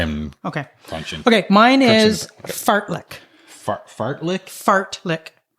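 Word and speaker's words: fartlek: Mine is fartlick. Fart Fartlick. Fartlick. How can you spell that for me, please?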